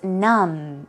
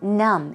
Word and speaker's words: numb: and you and be the B here is silent so it would be pronounced as numb numb as an N um